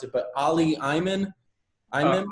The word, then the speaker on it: Ali Imam: Uh, I believe we have, and I might mispronounce it, but Ali Imam. Imam? Ali Imam.